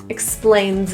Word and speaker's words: explains: The S in explains is also a voiced Z sound. Link it to it, it sounds like zit. Explains it.